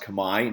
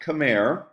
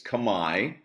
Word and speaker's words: Khmer: The Austro-Asiatic Family, which is Vietnamese and Khmer, it's pronounced "Khmy," not Khmer, okay? It's "Khmy," which is Cambodian.